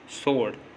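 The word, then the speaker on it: sword: जब भी S के बाद अगर W आएगा तो W साइलेंट होगा। जैसे आंसर, सोड।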